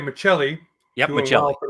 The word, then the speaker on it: Maccelli: Now I'm going to pronounce it right. Maccelli.